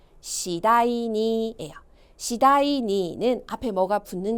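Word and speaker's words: 次第に: 발음이요. 시다이니예요.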